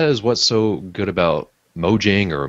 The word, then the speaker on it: Mojang: they're the that is what's so good about mojang or mo yang however you want to pronounce it they're just they just welcome that